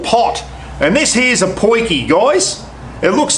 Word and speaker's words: potjie: if you're wondering what a poiki is it's not spelled that way it's p-o-t-j-i-e I think it's the spelling of it South African word for small pot and this here's a poikie guys it looks like